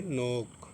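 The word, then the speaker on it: knock: یہ ہے نوک۔ تو یہ کے بعد این ہے تو کہ نہیں پڑھا جائے گا، کہ کا تلفظ نہیں ہوگا، یہ نو ہو گیا، نوک۔ یہ نو، یہ نوک۔ تو نوک مانے کھٹکھٹانا،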